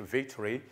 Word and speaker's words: victory: Vous avez ball, boot, kick-off, offside, defeat, victory, goalkeeper, parce que la prononciation est également importante. Vous avez victory. Victory, le O là devient une lettre silencieuse, donc la lettre O n'est pas prononcée.